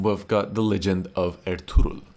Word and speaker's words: Ertugrul: Up at number 13, we've got The Legend of Ertugrul. I think finally that's how it's pronounced, someone said it to me.